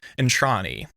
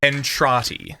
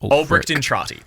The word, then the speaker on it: Entrati: An orkin by the name of Art Entrani. Albert Entrani. I don't know why I have a pronunciation guide but I wrote it before I'd